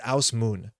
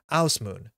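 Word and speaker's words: Ásmundur: We're going to go through this in the news, but Asmund's name is Ausmoon. Pula. Ausmoon.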